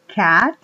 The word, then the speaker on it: cat: rifle Okay sigamos con más ejemplos aquí tenemos Cat gato Entre ella el sonido dense cuenta Cat